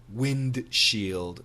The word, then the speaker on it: windshield: W-I-N-D-S-H-I-E-L-D. Now, when we say this word fast, the D disappears. Perfect pronunciation, windshield, windshield.